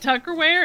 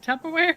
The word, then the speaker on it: Tupperware: And then, of course, her pronunciation was kind of amazing, but you know, the woman said Tucker Wear instead of Tupperware.